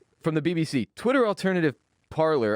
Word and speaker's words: Parler: From the BBC, Twitter alternative Parler, I'm going to keep calling it Parler. If they wanted it spelled or it's pronounced parlay, they should have spelled it that way.